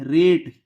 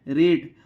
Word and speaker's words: rate: रेट। क्या पढ़ेंगे? रेट।